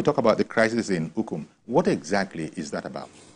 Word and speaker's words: Ukum: Apparently, there's been some sort of a crisis in Ukum, if that is the right way to pronounce it, in Ukum, back in your home state.